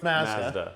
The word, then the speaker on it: Mazda: It's Mazda.